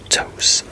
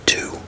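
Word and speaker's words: Tous: Now this is a Spanish company, and how this is pronounced in Spanish is Tos. So, like, depending on what language, because in I think in French it's two, like pronounced like T-O-O, two.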